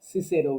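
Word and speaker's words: Cicero: রাইটাররা, যেমন একজন হচ্ছেন সিসেরো, যাকে আমরা বলি ইংলিশ উচ্চারণে, ল্যাটিন উচ্চারণে কিকেরো হওয়ার কথা।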